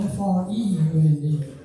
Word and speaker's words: Freund: My name is Friend, but it's spelled F-R-E-U-N-D. The correct pronunciation is Freund, means friend in German.